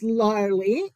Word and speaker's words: Larly: So my first name is Larly. It rhymes with gnarly and Harley.